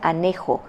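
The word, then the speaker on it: ἀνέχω: Y soportar, esta palabra es en griego original anecho, pero se pronuncia anejo, A-N-S-H-O, es levantar, sopesar, sostener la palabra.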